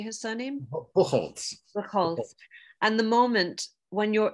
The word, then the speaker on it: Buchholz: Buchholz.